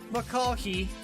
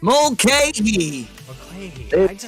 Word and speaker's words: Mulcahy: 7th will be Kevin McCulkey. Did I say it right? Did I get that one right? Mulcahy. Mulcahy.